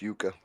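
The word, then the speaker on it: yuca: It's pronounced Yuka.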